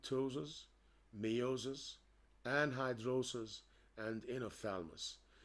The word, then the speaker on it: ptosis: and it's characterized by ptosis the P is silent ptosis miosis anhidrosis and inner